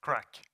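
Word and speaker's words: CRQC: computer is that it's according to my sources pronounced crack I think that's funny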